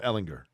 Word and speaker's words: Ehlinger: jur ellinger sam ellinger jur otherwise no sam ellinger oh okay so i was saying it right